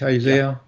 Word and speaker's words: Isaiah: that book a lot from Isaiah is that how you pronounce in English Isaiah yeah yes uh who said